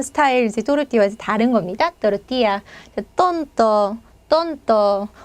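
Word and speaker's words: tortilla: 제 발음 그대로 그음 또띠야 또띠야음 자 여러분 멕시코 음식장 가시면 또띠야 이제 많이 드시죠 저 이제 스페인 스타일 또르띠아 또 다릅니다 자 먹어보지 않으신 분들인지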